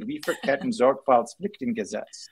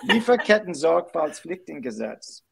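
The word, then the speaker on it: Lieferkettensorgfaltspflichtengesetz: And I'm going to say this in German, the Lieferketten Sorgfaltspflichtengesetz. That's how you say it. Wow. Can you do that again? Lieferketten Sorgfaltspflichtengesetz.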